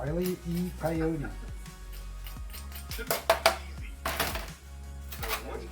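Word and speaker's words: Wile E. Coyote: Wy E Coyote should be easy.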